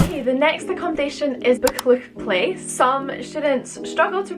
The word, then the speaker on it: Buccleuch Place: Okay, the next accommodation is Buccleuch Place. Some students struggle to pronounce this name.